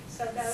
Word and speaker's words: saudade: Saudade.